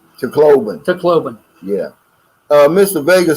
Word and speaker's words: Tacloban: About 6 hours south of Toblacan. How do you say it? Tacloban.